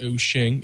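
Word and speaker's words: Wouxun: Well, I sell Oshing handhelds, which are Woxon, but pronounced Oshing, and Wufong, so that helps a little bit.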